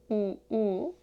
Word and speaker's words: ㅜ: 구두 구두 우유 우유 아 우우 두부 두부 국수 국수 주스 주스 부모 부모